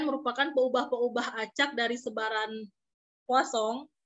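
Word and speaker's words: Poisson: perubahan-perubahan cecak dari sebaran puas song Nih kalau ibu Poison itu bacanya posong ternak dari itu ilmuan dari remotenya pakai ini ya terus pesan Perancis ya Kosong Yuki dan misal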